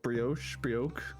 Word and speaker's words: brioche: chicken, what is it pronounced brioche?